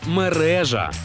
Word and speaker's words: мережа: А от і ні Чомусь усім дуже часто в українській мові хочеться наголос поставити на останній склад але правильно все ж мережа мережа мережа мережа наголос на другу букву е а із ваших знань